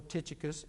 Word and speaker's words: Tychicus: onesimus is traveling with tychicus okay or titicus if that's the way you want to pronounce it he they're traveling with